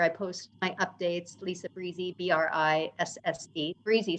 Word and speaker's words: Brisse: YouTube channel where I post my updates Lisa Breezy b-r-i-s-fc Breezy sounds like Breezy I mispronounced it Lisa Breezy that's so cool I was calling it Bruce and I was like I'm like Bruce is